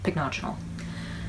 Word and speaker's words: Pycnogenol: None of them were exactly the same, but in all of them, the second syllable was what they were accenting. So I think I'm pronouncing it right, Pycnogenol.